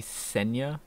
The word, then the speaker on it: Ksenia: Ksenia. I thought they didn't pronounce those. Like, shouldn't it be Senya? Like, silent K?